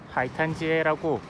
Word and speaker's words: 海滩街: 자, 오늘 여기 보러고 오려고 했던 게, 자 여기 보면은 하이탄지에라고, 이게 지금 한국 발음으로 읽으면 이게 해탄가입니다.